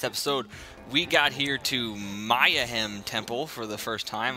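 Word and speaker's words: Mayahem: in the last episode we got here to maya hem temple for the first time i realized i was pronouncing that incorrectly maya hem a little play on words this episode i noticed when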